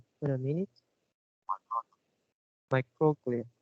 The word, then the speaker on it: microglia: the last third words, this is pronounced, wait a minute, microglia. You missed the k sound. You Oh, pronounce myroglia.